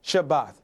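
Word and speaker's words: שבת: section on page 112, Sabbath in Hebrew is spelled from right to left, Shin Beit Thav, and it is pronounced Shabbat.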